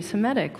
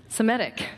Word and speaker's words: Semitic: I can never say this word. Thank you, Semitic. Why is that hard? I want to add an extra syllable that's not there. Semitic. That was not challenging.